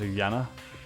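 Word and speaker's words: Junko: It's actually pronounced Yana. But don't worry, everyone gets it wrong the first time. But it's with a J.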